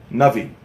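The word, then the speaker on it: נביא: Navi. Good. Excellent. Do you know what the word Navi actually means? Clever. What? Clever? No. Is it Chachma means clever, but what does the word Navi mean?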